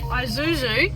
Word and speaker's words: Isuzu: Isuzu.